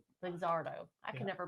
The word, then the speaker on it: Luxardo: Luxuro cherries. Luxardo. Lazardo. I can never pronounce it right.